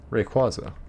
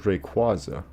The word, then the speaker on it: Rayquaza: There's Rayquaza and there's Rayquaza. Do you have a hard A, like a capital A? Like Rayquaza or Rayquaza?